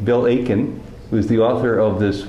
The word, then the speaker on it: Aitken: 2004 very good to be talking with Bill Aken you don't pronounce the tea in his name Bill Aken who's the author of this wonderful book Shri